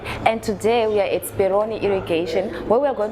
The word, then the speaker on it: Speroni: No, it's actually Speroni Irrigations.